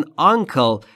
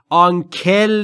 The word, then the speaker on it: uncle: چیز دیگری بهش میگن uncle. و در مورد تلفظش باید دقت بکنید. Uncle نیست. Uncle. Kill, kill. Uncle.